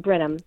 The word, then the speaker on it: Brenham: That's what it looks like, and it's pronounced Brenham.